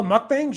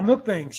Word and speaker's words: mukbang: just eating meals oh mukbangs yeah those have been around for a long time yeah milk banks yeah they're uh it's it's mukbang i think is actually the pronunciation of it but yeah it's like